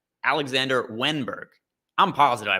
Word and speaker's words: Ehrenberg: Sorry, I'm adding an extra vowel in there. Alexander Ehrenberg.